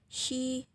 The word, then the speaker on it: she: Nah, memang ya di sini hurufnya e. Di belakangnya huruf e, tapi kita bacanya i. She, he gitu.